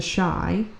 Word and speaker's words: Chi: Okay, that show, The Shy, it's spelled like CHI, that has Lena Waithe in it.